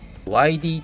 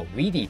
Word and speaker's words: WIDI: いうメーカーあのこれ widi と書いてですね y ディって読むことにしていますこれ外人さんっていうかそのこの本国の人はウィディって言ってるんですけどちょっと言い